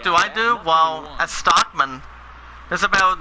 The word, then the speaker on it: Stockman: No, Stockman. It's pronounced as S-T-O-C-K-M-A-N.